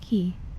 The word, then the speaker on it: chi: Some of them are said to react to magic or charges of chi. Okay. But it's actually pronounced key.